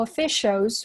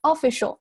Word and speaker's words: official: 然后后面 concerns 注意下这里是 a concern 不要读成 concern. Concerns of scientists and governmental officials worldwide.注下后面 scientists，注下 sign 这里的 i sign 不要读成 scientist 不对 scientists，然后接下来 governmental，注下这结尾它是还有一个 al 不要漏掉了，不要读成 government，然后紧接着到后面这个单词很多同学会读成 official 或 official 都不对，这个单词呢重音在后面，所以说前面是弱读了 official worldwide。这个单词注意一下，这里有一个卷舌，这里是 a 的发音，world，l 这个音不要读成 word。然后紧接着到下面一句